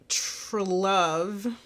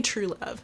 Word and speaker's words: Trewlove: At birth, Mick Trelove. What? It's spelled Trewlove. True Love? I'm going to say True Love.